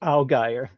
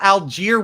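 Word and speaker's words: Allgeier: going to a backup and that's a Tyler Algy right now. He's RB20 Algy. I had I looked it up and he pronounced it alire. No way. Yes. Because I thought alier was just like obviously but the eie as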